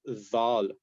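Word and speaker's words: ذ: So if you have these two sounds, you will come up with dhal. So it's pronounced dhal, and this is a correct. It should never be pronounced like a z sound.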